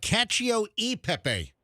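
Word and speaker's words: cacio e pepe: new season and I gotta say it right CIO e Pepe CIO e Pepe yeah don't don't say the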